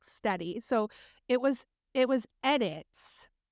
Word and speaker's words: Steddie: You're the only person I know that says it like that, but you can say it like that if you want. It's Steedy or Steady? Steady, but you say Steedy.